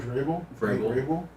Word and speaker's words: Vrabel: Is it Vabral? Coach Vrabel?